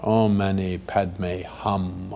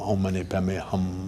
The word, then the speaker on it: Om mani padme hum: then finally do it in the proper sanskrit pronunciation Oh mani padme hum om mani padme hum oh man he bet